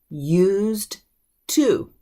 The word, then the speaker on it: used to: Because it is written used to, used to. But when we pronounce it, especially if we're in a hurry, if we're just casually talking, that D will slip into a T sound.